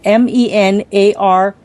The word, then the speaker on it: menarche: spell this because I don't know how to pronounce it, is MENARCHE to menopause.